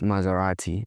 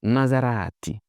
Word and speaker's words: Maserati: This is what we know as Maserati. But that's not how Italians pronounce it. This is Maserati. Maserati. Not Maserati. Maserati.